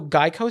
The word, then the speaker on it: GEICO: was like no I'm a gecko but it's pronounced Geico so that was the whole reason was he